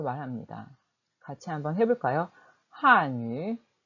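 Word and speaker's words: 汉语: 중국어는 중국 사람들은 중국어를 그대로 발음하는 중국어위라고 거의 하지 않고요. 한유라고 말합니다. 같이 한번 해볼까요? 한유.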